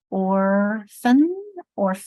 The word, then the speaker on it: orphan: Now someone's brought attention to the PH, making which is a Greek word. Orphan. But people is like, why isn't it n? Because my accent's here on the first syllable, or that becomes orphan instead of orphan.